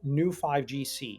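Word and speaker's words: Neu5Gc: And so the molecule is called new 5GC. It's spelled neu 5gc.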